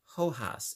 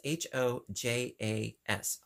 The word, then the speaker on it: hojas: not least I have I believe you pronounce this hojas it's h o j a s hojas and so we've got